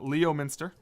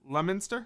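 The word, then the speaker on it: Leominster: how you pronounce it Leo Minster nope try again you're doing this is no I'm not yeah how you pronounce it lemonster you got it there's no way that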